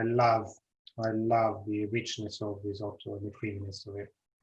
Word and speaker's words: risotto: rice will be ready risotto this is the italian pronunciation okay i must say